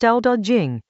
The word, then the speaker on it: Dao De Jing: Chapter 26 of the Tao Te Ching, pronounced Tao Te Ching, is about weight, not heaviness as a burden, but as the thing that keeps everything else from flying apart.